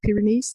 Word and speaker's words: Pyrenees: the south of France, for example, in the Pyrenees, is it pronounced Pyrenees?